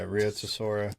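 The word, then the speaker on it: Rei Tsuruya: Yeah, Rhea Tesora.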